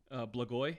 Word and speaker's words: Blagoy: Yeah, I was going to mispronounce his name. How you say his first name? Blagoy.